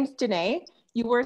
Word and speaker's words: Dené: for a moment oh sure my name is janae you were saying it right thanks okay i'm